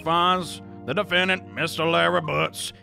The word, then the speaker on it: Butz: Larry Butz it's pronounced boots not guilty heck yeah